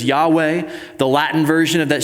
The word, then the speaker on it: Yahweh: Sometimes you'll hear that pronounced in the Hebrew as Yahweh.